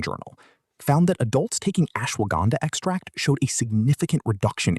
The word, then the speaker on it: ashwagandha: the one you've heard the least about: ashwagandha, pronounced ashwagandha.